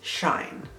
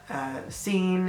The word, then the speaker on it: Seaine: chosen for myself is Shine. So it's spelled S-E-A-I-N-E, and it's Shine. It's not C-N-A, it's not Scene, it's not Cheyenne, whatever kind of name you want to think, it's Shine. Like shine bright like a diamond.